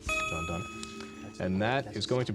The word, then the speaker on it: Donne: is Don? I'll accept the pronunciation. It's John Dunn. John Dunn.